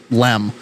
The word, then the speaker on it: LM: Um, so, uh, using the lunar module as a lifeboat, uh, the lunar module or LM, but they pronounce it LEM.